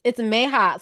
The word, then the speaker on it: Meha: Did you guys, what were your thoughts when the whole, how you pronounce her name, Jazz? Please help Miha? us. It's Meha.